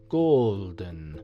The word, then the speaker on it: golden: and the other being golden pronounced with a long lazy emphasis on the o more shingle houses are